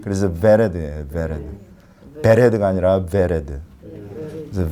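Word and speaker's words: ורד: 로즈가 히브리어로 베레드예요. 베레드. 아까 바브는 이게 이제 비읍 발음인데 이 비 발음이 아니라 V 발음이에요. B 발음이 아니라 V 발음. 그래서 베레드예요.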